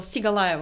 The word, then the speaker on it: Sigalaeva: Sigalaeva. Did I say it right? Sigalaeva? Like a Sigalaeva.